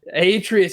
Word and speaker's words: Atreus: it's a soft A, not a What hard A.